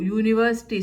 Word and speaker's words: university: So university sounds you.